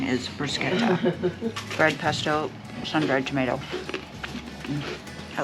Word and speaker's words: bruschetta: The correct pronunciation is bruschetta.